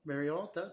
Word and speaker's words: Barriault: Barriault. See, you know how to pronounce French names.